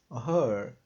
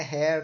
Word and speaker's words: her: final é um M her her não é ha também a pronúncia tá Hair é cabelo então é her feminino vejam bem aqui